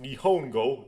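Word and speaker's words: 日本語: That's pronounced Nihongo.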